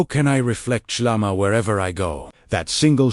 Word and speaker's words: SHLAMA: This is the beauty of SHLAMA, pronounced SHLAMA, wholeness, completeness, harmony with God.